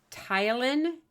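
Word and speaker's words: ptyalin: will you have a tyen there's actually a silent P there p t a y l i n mine in the mouth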